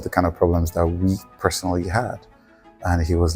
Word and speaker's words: Oui: like uh tell people it's we like in French it's not qu Capital when we started I